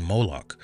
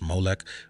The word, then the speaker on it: Molech: when they were worshiping molok and when you see molok or pronounced moak when you see them